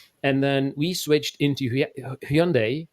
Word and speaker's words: Hyundai: then we switched into Hyundai um pronounced as Sunday uh tuon so we considered